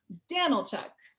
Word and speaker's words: Danylchuk: in a moment so phonetically in case you guys don't know how to say my last name it's a tough one daniel chuck daniel chuck donald chuck mean son